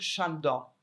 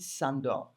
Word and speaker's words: Sándor: ne parle pas l'hongrois, qu'il fallait dire Sándor. Parce que c'est comme ça qu'on prononce, et pour moi, je n'y arrive pas, parce que c'est une question de sonorité, et je dis Sándor.